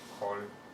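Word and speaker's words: כל: Like kol, Yeah, so it's spelled with kamas, but we read it as all.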